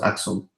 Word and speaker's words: Aksum: I think it's pronounced Aksum.